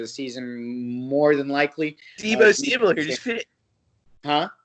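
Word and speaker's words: Deebo: Debo, like from like Friday.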